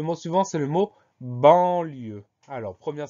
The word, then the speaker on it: banlieue: On pense au son en qui s'écrit an, au son e qui s'écrit e-u et surtout à la lettre finale E, la lettre muette.